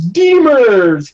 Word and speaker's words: Demers: game I was watching and immersed cortical it's Demers his first of the season I was like that's forever stuck as Demers I mean I'd be more than happy if